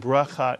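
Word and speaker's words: ברכה: as a vowel so the first syllable in this word is b and the second syllable put the word together you Getsu and braa is the Hebrew word for a blessing and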